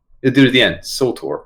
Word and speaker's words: Surtur: And the dude at the end, Surtur. I always get his name wrong. Surtur. Surtur. Like sulfur.